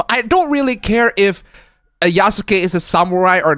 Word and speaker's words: Yasuke: Yasuk? I'm sorry, what? It's Yasuke, but it says Yasuk.